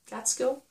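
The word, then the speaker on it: Gaitskill: and the one by mary gets gateskill about how you pronounce her name catskill so those are the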